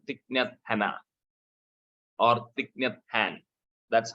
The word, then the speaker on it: Thich Nhat Hanh: Plum Village is a spiritual order started by a Vietnamese monk called Thich Nhat Hanh or Thich Nhat Hanh. That's how it is pronounced.